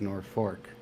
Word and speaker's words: Norfolk: was transmuted to Norfolk Nebraskans typically pronounce it as North Fork the settlement only had